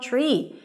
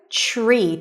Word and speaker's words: tree: Tree. TR together turn into a ch sound.